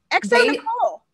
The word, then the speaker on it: xoNecole: It's Nicole. You're talking about X-O Nicole.